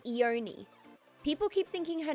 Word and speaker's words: Ione: started all right according to google it is pronounced eoni people keep thinking her name is loan and i know that's wrong because i know